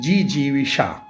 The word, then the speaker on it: जिजीविषा: शायद को जीने की इच्छा को कहते हैं जीजीविषा देखिए हम उधर नध जो है उसका उच्चारण बहुत महत्वपूर्ण है तो जीने की इच्छा